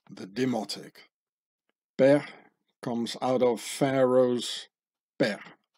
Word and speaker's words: Per: While its original pronunciation is not known with certainty, but modern Egyptology assigns it the value of Per, eh?